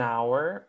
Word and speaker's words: hour: And like you said, it's an H, right? A silent H.